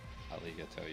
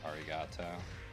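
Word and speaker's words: ありがとう: located in the uh spelling instead of saying aligato you'd say arigato um I mean that's how we would pronounce it but you're essentially pronouncing a word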